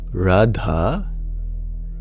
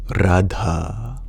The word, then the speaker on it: Radha: It is not Radha. Sanskrit is precise. Her name is Radha.